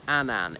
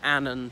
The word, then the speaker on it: Annan: surname is not pronounced Annan it's Annan to rhyme with cannon as he said and unfortunately he did